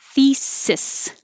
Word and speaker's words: thesis: Thesis. Voiceless TH, voiceless S's, no Z's, thesis.